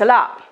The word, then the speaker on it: a lot: Alors vous remarquez peut-être que je ne prononce pas beaucoup le T à la fin du lot. Thanks a lot, thanks a lot.